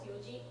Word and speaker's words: yoji: Yo is short for yon, which means 4. So this is a special pronunciation specifically for the time 4 o'clock. So yoji. Normally 4 is yon, not yo.